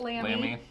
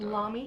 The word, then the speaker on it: Lamy: Except I pronounced it wrong. Pronounced it Lammy. Or Lamy, as I hear sometimes. Lamy.